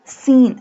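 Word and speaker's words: سين: Sin. Sin pronounced like a whistle sound.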